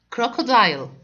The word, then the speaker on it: crocodile: After it, crocodile. Crocodile. Letter C here and letter C here, sound of it is K. طبعا letter C صوته K. Crocodile.